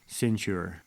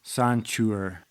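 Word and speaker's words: Ceinture: another operation called operation centure all right so quick edit I just looked up how to pronounce that word and it's actually sanure not cure but sanur um whatever I don't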